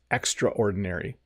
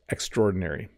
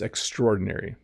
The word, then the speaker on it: extraordinary: You know, sometimes in English, we will overpronounce this word. We'll say something like, oh, it's extraordinary. But the fast way to say it is extraordinary. It's extraordinary.